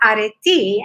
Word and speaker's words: Areti: And Areti, or Areti, as it is pronounced in Greek, was a goddess in